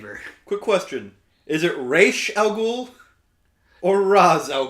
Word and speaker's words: Ra's: calls him Raish al yeah, Ghul. exactly, because that's like the right way to pronounce it.